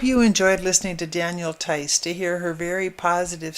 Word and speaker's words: Theis: I hope you enjoyed listening to Danielle Tice to hear her very positive story. She has a web page, and it's Danielle Tice Consulting, all one word, .com, and her last name is spelled Theis.